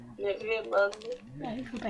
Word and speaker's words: Rayman: Deus Ex, ou alors d'autres franchises que vous connaissez sûrement, du style Rayman, qui ne se prononce pas Rayman, mais Rayman, Ah, il faut pas y croire non plus.